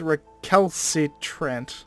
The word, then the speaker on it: recalcitrant: It's a hard C first, a soft C second, I'm 90% sure.